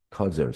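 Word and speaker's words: causal: 커절이라는 단어 별표. 우리 내신 대비하는 친구들은 캐주얼이란 단어.이 퇴주얼은 이제 일상적인 거죠. 여기 단어보세. 발음해 보면 아세요? 커절이니까. 얘는 뭐예요? 지금이 단어는 커절 cau까지 적고 sal 이렇게 되겠죠. 이건 커절. 인과관계의 그 스펠링 정확하게 봐 주세요. 이것서 커절입니다.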